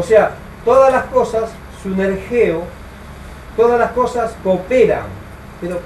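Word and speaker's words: συνεργέω: Esta palabra, les ayudan, se tradujo de un término griego que es sunergeo. S-U-N-E-R, G de gato, como dicen mucho, E-O, con acento en la E.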